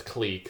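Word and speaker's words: clique: K click or click there's no consensus on what how it's pronounced but most academics pronounced it as cleek so I'm gonna be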